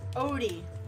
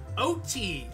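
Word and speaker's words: Oaty: About Grandma Wild's Odie? Odie. Odie. Cookies! Grandma Wild's Odie cookies. How's that? O-T. Okay, you pronounced it O-D. You know, like the dog from Garfield. O-T. O-A-T-Y. O-D-I-E.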